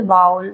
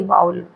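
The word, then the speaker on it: vowel: एक बात ध्यान रखिएगा वोवेल नहीं पढ़ते हैं इसको बहुत क्या बोलते हैं प्रोनाउंसिएशन में गलत प्रोनाउंस करते हैं इसको वोवेल कहते हैं वोवेल नहीं होता है ये बाउल बाउल बोलते हैं इसको प्रोनाउंस करना बाउल double बाउल sound okay pronunciation भी अपना ध्यान रखिएगा इसमें भी गलती नहीं होनी चाहिए तो डबल बाउल साउंड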